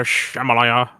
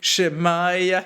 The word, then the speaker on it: Shemaiah: And the word of the Lord came, to Shemaliah. There's not even an L in there. No, hold. I thought there was an L in there. Hold. It's Shemaiah he.